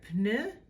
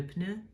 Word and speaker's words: pneu: the exception of le pneu would become les pneus. As you can hear, you pronounce the P.